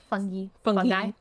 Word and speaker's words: fungi: Anyway, viruses like influenza and fungi. Fungi. Fungi. Like nuclei. Yeah. I think that's why I say it like that.